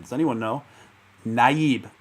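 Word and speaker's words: Nayib: name does anyone know naib i'm pretty sure that's the way he pronounced the first name naib bouqueli um not to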